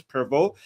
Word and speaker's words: Prevost: His real name is Robert Francis Prevost, I think, because it's written Provost, but I think the last ST part is not pronounced, so it's Robert Francis Prevost, but nobody cares about his real name now.